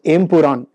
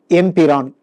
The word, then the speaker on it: Empuraan: Some groups in Kerala pronounce it incorrectly as Empuraan, while many other groups pronounce it correctly as Empiraan.